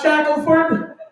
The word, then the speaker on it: Shackelford: I'm Shackelford. Shackelford is how white people say it. Shackelford is how it's spelled. So that's the correct way to say it.